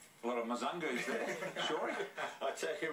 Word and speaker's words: Mzungu: Yeah, he's had a tough time with Big Brizer, but yeah, it's actually Mzungu, so you can maybe pass that on to him.